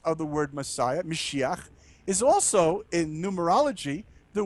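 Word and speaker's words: משיח: White Donkey the word messiah in Hebrew is pronounced mesiah the Messiah literally just means the anointed one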